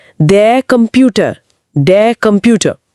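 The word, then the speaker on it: Computer: एक मिनट अक्षर का नाम से लेकिन शब्द में तो क की आवाज आ रही है। यह क्या मामला है? और यह रहा हमारा पहला ट्विस्ट। अक्षर का नाम है से से। अंग्रेजी के सी जैसा नहीं। हालांकि इंटरनेशनल शब्दों में जो दूसरी भाषाओं से आए हैं, इसकी ध्वनि क ही रहती है।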